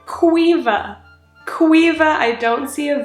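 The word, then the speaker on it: Caoimhe: an overlay when I'm editing qua she said Quiva Quiva I don't see a v i don't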